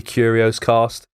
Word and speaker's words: Curios: us a mention say the curios cast it's spelt like curious but without the second u at the end and